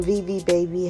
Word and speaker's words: Vivi Babi: This hair that they sent me was from Vivi Babi hair.